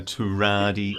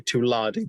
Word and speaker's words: Tuladi: A Turadi auditor. Yeah, Turadi, another fish actually. Mm-hmm. Well, it's actually Tuladi, but you can spell it with an R, which is the North American lake trout.